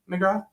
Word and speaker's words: McGraw: Is it um McGrath? Yeah. Sorry, saying your name wrong last time.